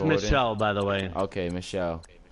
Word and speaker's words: Michel: of the Year you got Lynch got Sonny Michaels Hines the rookie from from the cold it's pronounced Michele by the way okay Michelle no no you